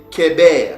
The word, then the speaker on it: Héber: En fait, ici, ce n'est pas Héber, mais c'est Kéber, parce que c'est pas, en fait, ici, c'est pas un Hé, mais c'est un Het, parce que le Het a le son du K aussi.